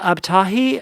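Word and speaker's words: Abtahi: called perfectly parveen uh spelled p-a-r-v-i-n by olivia ab-tahi uh and her last name is spelled a-b-t-a-h-i awesome that sounds delightful yeah um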